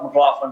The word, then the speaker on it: McLaughlin: last name is McLaughlin m c l a u g h l i n and it's easy to remember because it's got the word laugh right do you pronounce it